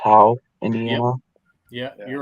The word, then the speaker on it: Howe: Goshen or from I think Howe, is it pronounced Howe, Indiana?